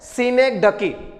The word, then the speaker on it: synecdoche: तरीके से करते हैं, लेकिन इसका शुद्ध प्रोनाउंसिएशन क्या होता है, सिनेक्डकी।